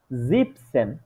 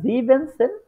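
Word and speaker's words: siebzehn: তাইলে এখানে হইতেছে জ্যাকসেন জিপসেন ঠিক আছে এটা জিনসেন হবে না কখনোই এটা হবে জিপসেন ঠিক আছে তারপরে যেটা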